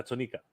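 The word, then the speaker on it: Tonnika: You pronounce that even funny. Tonica? You said Tonica? Yeah, Tonica.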